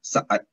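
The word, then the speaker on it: saat: Okay, when you have a double vowel, you pronounce it twice. So, sa'at. Sa'at is the word for second, like 1 second, 2 seconds, 3 seconds.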